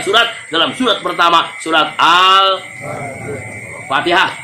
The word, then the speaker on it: Al-Fatihah: dalam surat pertama, surat Al-Fatihah. Tolong bacanya Al-Fatihah bukan Al-Fatihah.